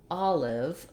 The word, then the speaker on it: olive: at the word olive we have this stress is on the first syllable ah so that's my first clue when i have letter o in a stressed syllable in english it often says vowel ah rather than o or ah or rounded vowel it can say oh